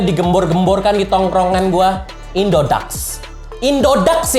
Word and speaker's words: Indodax: di tongkrongan buah indodax indodax ya bacanya bukan indodex mentang-mentang aku dibacanya e dibacanya Dek udah indodax udah ikutin aja indodax gosong Inggris flu